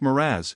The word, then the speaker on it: mirage: "Mirage is pronounced Miraz," said Valancy shortly, picking up her tea and her beans.